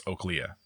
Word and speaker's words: Oaklea: The capita of this is just over 8,000 females, and it is O-A-K-L and then Leah, essentially. So it's Oaklea, which sounds fine until you start breaking it down by the syllables.